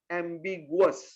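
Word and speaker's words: ambiguous: एम बी आई जी यू ओ यू एस एमगस उच्चारण होगा एमगस आप लोग अपने आप में उच्चारण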